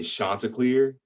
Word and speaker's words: chanticleer: about when i say this it's called a chanticleer it looks like chanticleer it's not chandelier it's not it's chanticleer we